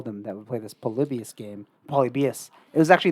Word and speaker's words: Polybius: made for mind control polybius polybius no polybias it's it's pronounced many ways it was this video